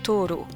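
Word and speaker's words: とうろう: Bien qu'une autre lecture avec des kanjis différents se prononce Toro, mais aussi plus rarement onomoshi.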